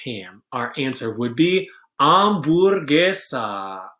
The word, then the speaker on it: hamburguesa: Our answer would be hamburguesa. Hamburguesa has the word ham at the beginning. Of course, we don't pronounce ham because it has a silent H, so it is hamburguesa.